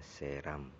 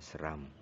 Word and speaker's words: Seram: Bacanya Seram, bukan Seram. Bukan batu seram, tapi namanya batu Seram.